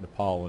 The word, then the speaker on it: Nepal: point about thinking that Nepal and Bhutan which incidentally he also mispronounced as nipple and button our part of India